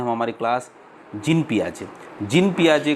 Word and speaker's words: Piaget: इस क्लास के अंतर्गत आज हम जीन पियाजे का संज्ञानात्मक विकास के सिद्धांत के बारे में, जीन पियाजे के बारे में थोड़ा सा हम पढ़ेंगे आज।